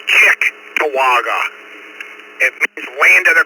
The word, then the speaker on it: Cheektowaga: It's Cheektowaga. I tell people to say Chick-Tawaga.